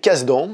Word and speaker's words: Kasdan: Donc le film est réalisé par Jake Kasdan, si on le dit à la française, ou Jake Kasdan si on le prononce de manière un petit peu plus correcte, qui est le fils